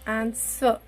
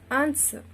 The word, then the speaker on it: answer: letter wrong next one it is not answer it is answer w is a complete silent letter so these are the